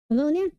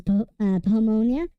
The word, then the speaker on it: Pamonha: I listened to like a YouTube video describing saying how to pronounce Pamonha, or Pamonha. It turns out that's the wrong pronunciation, because as it turns out, Pamonha, the thing I was actually like working with for at least the entire week, or up until like this stream, was actually the right way to pronounce it.